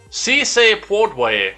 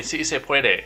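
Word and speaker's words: sí se puede: handful of california farmers biden enthusiastically told the crowd si say puerto way while attempting to say si se puede or yes we can so say it with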